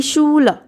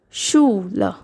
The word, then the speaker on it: Schule: Okay, when these three follow S, then S will be pronounced as SH of English. It means it will sound like sh. Sh. Zum Beispiel, die Schule. Die Schule. S is followed by CH. So, Schule.